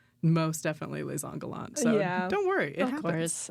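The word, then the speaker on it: Les Indes galantes: And you're like, that is a French word, that is les Angolants.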